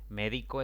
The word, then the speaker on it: médico: Médico es una palabra de 3 sílabas. La mayor intensidad cae en la antepenúltima sílaba contando de izquierda a derecha. Por lo tanto, debe atildarse siempre.